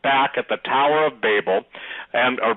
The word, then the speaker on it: Babel: Chris Putnam, Steve Quayle, Tom Horn are right back at the Tower of Babel, or Babel. Some people pronounce it one way, some pronounce it the other.